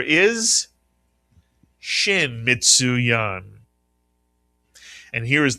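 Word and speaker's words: ש: The name of this letter is Shin Mitsu Yan.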